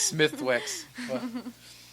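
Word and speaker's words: Smithwick's: the smithw or something oh Smithwick yeah I don't think that's how you pronounce it it's all like Irish but yeah you know typical Americans just butchering languages it's Smith Wix but my favorite blue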